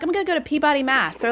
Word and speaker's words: Peabody: It's not Peabody. It's Peabody. Why?